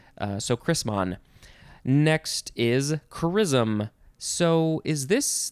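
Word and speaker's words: chrisom: so chrisman next is charism so is this this is pronounced the same way as the other chrism but it is spelled c-h-r-i-s-o-m we added an o noun from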